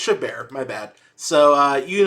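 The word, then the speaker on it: Chabert: uh I think it's I think it's shabber is it shaber actually know actually don't know how do you say her name oh it's it's shabar my bad so uh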